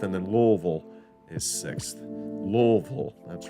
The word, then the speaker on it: Louisville: Louisville, that's right, that's how you say it.